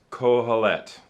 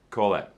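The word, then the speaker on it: קהלת: word teacher uh is a hebrew word it's pronounced kohalet kolet and so you can see it's it's that's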